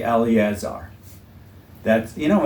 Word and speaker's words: Eleazar: And don't say Eleazar. That's, you know, in Eleazar, the second E is silent.